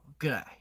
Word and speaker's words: G'day: 아니면 근데 또 호주에서는 완전 약간 호주 억양을 마스터했다 싶으면은 보통 하이 말고 그라이 그라이마이 그라이가 나와요. 그 그라이는 뭐냐? 굿데이를 줄여서 그라이로 한 거예요.